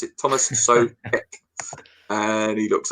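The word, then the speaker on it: Tomáš Souček: Sorry, Neil did tell me how to pronounce it. Thomas Soucek, and he looks like this for anyone who hasn't seen him.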